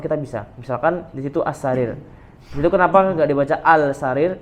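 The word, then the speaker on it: السرير: As-sarir. As-sarir ya. Karena di situ ada tandanya, itu ada tasdidnya. As-sarir, as-salajah, seperti itu.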